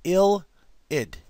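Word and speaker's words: ylide: this is the key this right here is known as an illid y-l-i-d-e now again it looks weird y-l-i-i-d but it's spell it's pronounced ill id i l id id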